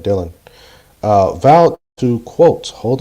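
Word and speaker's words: Dhillon: I think that's Dylan I think that's pronounced Dylan d-h-i-l-l-o-n Dylan uh vowed to quote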